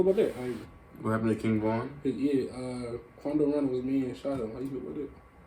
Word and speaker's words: King Von: It's King Von. It's like one word.